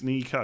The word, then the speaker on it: Nico: which one it is, but you would just spell it the same way. Is it Nico Williams? It's Nico.